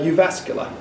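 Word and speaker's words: Jyväskylä: the Faculty of Education and how do you pronounce the University uh you vascular okay so it starts with the JY v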